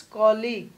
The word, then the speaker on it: colleague: Clinic, dentist, reception, appointment, colleague, colleague, right pronunciation is calling, UG or GUE, wrong, it's not college, it's colleague, COLLEA.